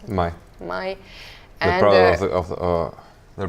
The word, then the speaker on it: Mai: Or Mai, what do you pronounce it? Mai. Mai.